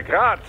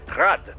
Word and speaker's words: Grad: Technically, the UG's name is pronounced Grad, the Ukrainian way. But most in the business pronounce it as Grad, Russian style.